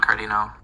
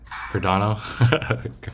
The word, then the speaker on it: Cardano: He said he recommended Solana and Cardino. Cardano. Cardino. I like the pronunciation.